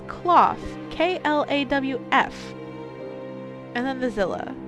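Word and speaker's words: Klawf: It's Cloth.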